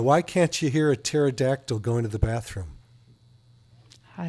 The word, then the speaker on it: pterodactyl: can't you hear a pterodactyl going to the bathroom I don't know is the p is silent oh I'm going to